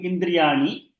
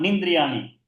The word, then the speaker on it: इन्द्रियाणि: Shashtani is ending with E, starting with Indriyani. So E plus E becomes E. Manashashtani Indriyani. मनःषष्ठानीन्द्रियाणि Indriyani. मनःषष्ठानीन्द्रियाणि Manashashtani Neelabegam Ni. The D should be pronounced, not Nindriyani.